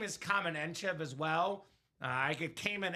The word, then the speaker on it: Kamen Entchev: So, Matthew, my name is Kamen Entchev as well. I get Kamen Entchev, so firsthand I know how to pronounce it.